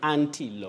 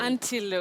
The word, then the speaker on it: antelope: So we say antilope. Antelope. Antelope, not antilope.